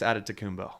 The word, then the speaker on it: Antetokounmpo: Giannis Antetokounmpo.